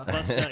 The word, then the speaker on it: Busta: Did you and call says, him Buster? Busta. Busta? It's Busta. It's even spelled Busta, Did Marshall. I say? I didn't mean to say. Hey, Buster. Buster. Buster. You need to pronounce it correctly. It's Busta.